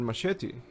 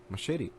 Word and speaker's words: machete: Machete. And if you speak Spanish, for example, you have the advantage because you know the correct pronunciation. It's not machete, it's machete in Spanish.